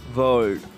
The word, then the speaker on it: world: The pronunciation of WORLD is like, if you come to the spelling, VORLD. If you spell like this, if you pronounce this spelling, then it comes like world.